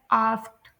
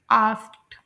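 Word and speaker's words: asked: कि इस लफ्ज़ को कोई भी ऐसा लफ्ज़ जो कि ई डी पर एंड होता है तो उसकी प्रोनाउंसिएशन में डी की आवाज़ नहीं निकलती, टी की आवाज़ निकलती है। जैसे यहाँ पर एक लफ्ज़ है आस्क्ड, तो यहाँ पर टी की आवाज़ निकलेगी, आस्क्ड। और वर्ड नंबर 4 इज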